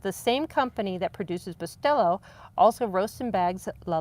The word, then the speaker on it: Bustelo: It is Bustelo with a B. You're pronouncing it correct, by the way."